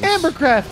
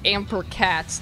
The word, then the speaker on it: Ampercat: Ambercraft is here. Ambercraft? It's Hello. way too early. It's not a StarCraft stream. What are you doing here? Well, we have a follower named Ampercat that Mike mispronounced.